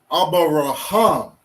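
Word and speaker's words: אברהם: So just looking at this word, right, with the way the syllables go, right, or the way we would pronounce this word without knowing which syllable to say, which not to say, right, just pronouncing each individual character on its own, we have Abarahama. Okay? Which in Hebrew we would say Abaraham.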